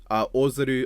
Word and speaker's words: Ozaru: Ozaru, obvious, like I believe is the most accurate to how it should be pronounced.